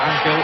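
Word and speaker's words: Ángel: And since then, the centre-half for Uruguay, whose middle name is Angel, and he pronounces it Angel, Bosio has been sent off.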